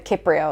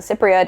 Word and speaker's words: Cypria: a first book, which is called the Cypria or the Cypria, depending on if that's a hard C or soft C to you.